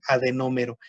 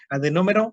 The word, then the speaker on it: adenómero: Cuando yo hable de una unidad secretora de glándula, es lo mismo que adenómero. Adenómero, así tal cual se escucha la palabra y con acento en la O.